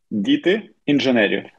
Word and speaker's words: діти інженерів: Okay, so the name pronunciation is Diti Ingenieri. Two words.